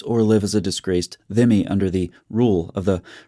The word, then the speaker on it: dhimmi: A dhimmi, pronounced dhimmi, is someone in a place conquered by